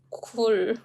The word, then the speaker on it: 굴: 글 versus 굴. 이런 수업 너무 좋은 것 같아요. So can you notice any difference? Let me pronounce those words, okay? 글 and 굴. 글, 굴.